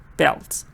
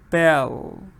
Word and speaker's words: belt: is vowel uh VCC belt but if you make a mistake and you forget to pronounce this final sound here you sound like Belle you just say VC